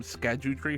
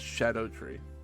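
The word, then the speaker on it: Scadutree: shocked my world today you know how we've all been calling them SCU tree fragments apparently that's just pronounced Shadow tree it's just an Old English way of spelling Shadow this is the most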